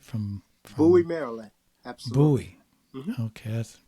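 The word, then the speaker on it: Bowie: know your your father's from Marland right from Buoy Maryland absolutely buoy okay that's what it's how it's pronounced uh and have you gone back there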